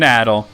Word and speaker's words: Adol: sticks in my cross people who call him adol like it's it's adult it's always been adol and like even like